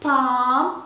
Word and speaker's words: palm: rule rule number four when l comes between a and m l is not pronounced almond salmon palm etc silent letter thank you